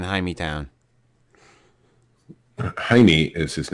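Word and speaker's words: Jaime: Jackson got in trouble for saying ha town haime is his name oh or Jamie if you want to pronounce it the English way oh I just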